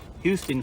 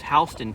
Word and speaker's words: Houston: It's spelled Houston, like Houston, Texas, but it's pronounced Houston. So if you're here in Georgia and you say Houston County, people are gonna look at you funny. It's Houston County.